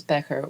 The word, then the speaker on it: Becher: However, for this production, I will refer to them as Becher, which is closest to the German pronunciation.